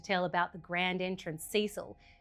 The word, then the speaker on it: Cecil: And and I apologize cuz we refer to it as Ceil, but I understand you guys pronounce it as Cecil.